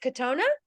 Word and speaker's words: Kotona: And is it Kotona?